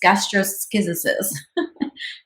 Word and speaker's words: gastroschisis: say it, double check how to say this, gastroschisis. It's one of those big words. The post showed the baby suffering from gastroschisis, a medical condition where the intestines are exposed.